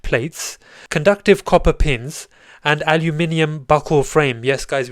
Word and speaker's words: aluminium: conductive copper pins, and aluminium buckle frame. Yes, guys, we do in the UK, we say aluminium, and we spell it as aluminium as well.